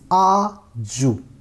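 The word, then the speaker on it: 아주: It's aju, aju, because this character, if it is in the beginning, it's pronounced like cha, cha, but if it is in the middle place, then it is pronounced as j. So it will be aju.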